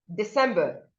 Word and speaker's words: December: And we have December, December. Many people would call this December. No, the letter C here maintains the sound S, not Z.